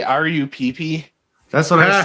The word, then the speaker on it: Rupp: Did you just say R-U-P-P? That's what I said. That's literally how her last name is spelled. R-U-P-P? Yeah, it's Rupp.